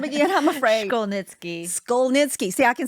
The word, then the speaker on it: Szkolnicki: me your last name again I'm afraid skitzki Skol nitzki see I can say it after she says